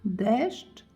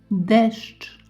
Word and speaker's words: deszcz: Pada deszcz i Anna ma parasol. Pada deszcz i Anna ma parasol. Warning, pronunciation storm ahead. Repeat after me. Deszcz, deszcz, cz, deszcz.